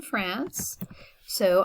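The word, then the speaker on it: française: was not born in france so i'm going to say frances and i need to pronounce the s at the end because that's how you say it when it's in the feminine form okay and but if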